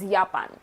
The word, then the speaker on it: Japan: Whenever you see J, you have to pronounce it as year. Y year and whenever you see V, that is pronounced as F. Folkswagen. So J is year and V is fur. Japan is Yapan.